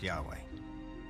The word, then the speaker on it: Yahweh: According to one account, Abraham knew God by his intimate personal name, conventionally pronounced Yahweh.